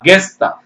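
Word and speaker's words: guess: படிச்சு பாருங்க கெஸ் வருதுங்களா கெஸ்ஸ்தான் சில பேரு யூ ஆ சத்தம் போட்டு கெஸ்ன்னு படிக்கிறாங்க அது தப்புங்க கெஸ் ஜி இ எஸ் எஸ்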